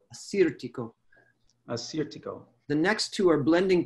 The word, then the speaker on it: Assyrtiko: home alongside of me this is the anglicized version that hopefully will make it easier for you to work with this out in your market so the first one is the one everybody's heard of and that's a cedar Tico a suit to go Assyrtiko a suit to